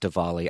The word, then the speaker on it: Diwali: pronounced diwali not diwali it is pronounced divali i learned that this